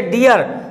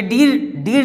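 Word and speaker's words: dear: जैसे डियर, ये डीर नहीं पढ़ेंगे, इसको हम लोग क्या पढ़ते, DR, डियर।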